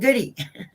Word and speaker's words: Gaudette: Hi, Jason Goody. Oh, hi. Hey, Hi. Goody. Yeah. That's how they pronounce it down here.